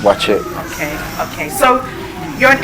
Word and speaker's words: Buatsi: it but soon i realized that they say boy see what's he watching it's how it spells but yeah that's because i'm an airway but it's pronounced watch it okay okay so you're an airway as you